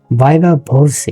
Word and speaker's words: viva voce: ভাইবা ভোসি এর উচ্চারণটা আপনারা জানেন, ভোসি।